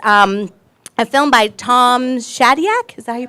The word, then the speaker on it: Shadyac: leaders and it's um a film by Tom Shadyac is that you pronounce his name yeah who is a famous